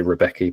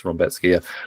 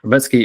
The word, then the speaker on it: Rebecki: that because I think people might say Rebecki but it's Roki Roetski is is that like kind of um wrecking ball in the first round but I I completely agree.